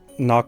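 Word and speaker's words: นาก: And just so you know, Knock with an N and then Mock with an M.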